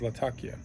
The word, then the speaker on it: Latakia: I think the proper pronunciation actually is latakia.